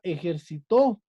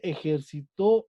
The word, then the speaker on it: ejercitó: Como dice ahí la palabra ejercitó. Es una palabra aguda. Y ejemplo dice, Juan ya se ejercitó ayer.